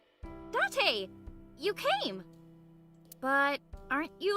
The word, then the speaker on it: Date: It's pronounced Dante.